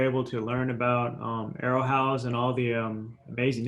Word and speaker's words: Aerohauz: i'm glad we're able to learn about um arrowhouse and all the um amazing impact that looks